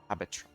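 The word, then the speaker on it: Habetrot: How do you pronounce her name? Habitrot, Habtrot, or Habittrot? Habitrot. Alright, so yeah, Habitrot is correct.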